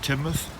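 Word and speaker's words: Teignmouth: and looking across at timoth our pronunciation has been uh given input from the locals so it's definitely Sheldon and it's definitely timou and this is the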